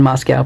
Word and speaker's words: Moscow: in humanity it's still in Moscow pronounced with an with an O Moscow Moscow Moscow that was